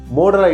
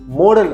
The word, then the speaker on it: modal: கேன் அப்படிங்கிறது மோடல் அப்படிங்கிற ஹெட்டிங்கில் வருது. சிலர் இதை மாடல் அப்படின்னு ப்ரொனவுன்ஸ் பண்ணுவாங்க, அது தவறு. இது மோடல், MODAL. இட்ஸ் அ மோடல், நாட் மாடல்.